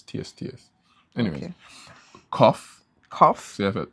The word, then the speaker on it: qoph: Cough. Cough. So you have a Sade, then you have cough. How does QOPH pronounce as cough?